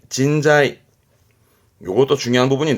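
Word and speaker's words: 人材: 발음은 진자이 진자이 요것도 중요한 부분이 내 고급한테 보입니다.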